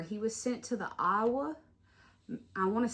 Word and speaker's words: Iowa: from Louisiana, we have a town called Iowa that's spelled exactly like Iowa, but just sound different. And I see it and I'm like, oh, that's Iowa, not Iowa.